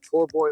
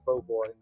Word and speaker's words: po' boy: No matter how you say it, as long as it's good, nobody's going to argue with you, poor boy or po' boy.